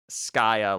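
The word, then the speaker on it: Skaia: Skya like Sky and Gaia.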